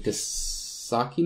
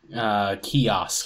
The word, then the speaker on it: kiosk: It's kind of neat how he did it, is he basically used a web browser in Keysocky mode? Keysock. How do you pronounce that? Kiosk.